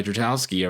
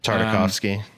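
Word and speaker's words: Tartakovsky: going to do the noncanon Clone Wars by Dratowski or I'm mispronouncing his name just to mess with us like that like a big curveball. That's that would be a good one. Um, damn. Tardikovski.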